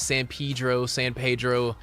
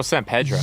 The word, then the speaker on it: San Pedro: Los Feliz, Los Feliz, San Pedro. It's Pedro. So. Oh, San Pedro. Yes, but the Spanish way, because I think it was named after St. Peter.